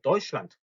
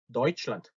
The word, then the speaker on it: Deutschland: 자, 단어 끝에 오는 D는 독일어에서 트 소리가 납니다. 그래서 Deutschland라고 쓰는 게 아니라 Deutschland라고 쓰셔야 돼요. Deutschland. Deutschland.